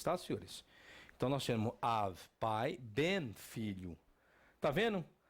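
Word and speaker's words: אב: Av. Pronto, Av. O que é Av em hebraico? Pai. Professor, não é Ab. Tem alguns que pronunciam Ab ou Aba, que é do aramaico.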